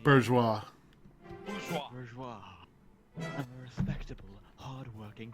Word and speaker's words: bourgeois: I'm nothing like that fat cat Borges. Terrible mispronunciation. Bourgeois.